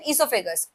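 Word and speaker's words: oesophagus: Food pipe का दूसरा name इससोफेगस। ओसाइलेंट है।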